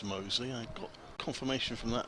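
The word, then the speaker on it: Mousley: high hopes for and although it doesn't look it is pronounced mosley i got confirmation from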